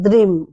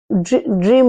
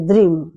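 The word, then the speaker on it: Dream: মনে জানবেন ড্রিম ডি আর double M কিন্তু উচ্চারণে বলতে হবে কিন্তু দ্রিম ড্রিম নয় দ্রিম এই এবং সেটাই সেটাও সেই একইভাবে কাচের গ্লাসে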